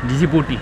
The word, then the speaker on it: Djibouti: लेकिन यह जी बूटी जी बूटी भाई इसको प्रोनाउंस करते हैं डी जे आई बी ओ यू टी वाई जी बूटी चलो भाई इसी एरिया में थोड़ा मोड़ा घूमते